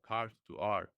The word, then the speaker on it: cartoart: Carl, how do you even pronounce it? Cart? Oh, cart to art.